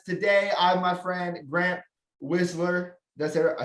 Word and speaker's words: Wisler: Today, I'm my friend Grant Wisler.